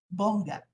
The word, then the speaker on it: Bongat: I just want to correct my the pronunciation of my surname, Bongat.